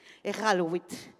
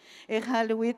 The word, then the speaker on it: Iqaluit: Est-ce que je le prononce bien? Iqaluit. Iqaluit au Nunavut.